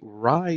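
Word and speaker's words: Rai: at 3.75 tons the Rye Stone that's spelled r-a-i is the world's heaviest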